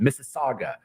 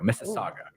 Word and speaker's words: Mississauga: And V actually gave me applause because I finally pronounced the city right. Mississauga, Ontario. Mississauga.